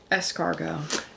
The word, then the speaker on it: escargot: Escargot. You're right. Take the M out, put the S in there, it all works. And it's annoying because it's spelled with a T at the end.